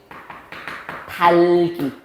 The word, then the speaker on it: 닭이: 그러면 얘는 발음 어떻게 나게? 달기.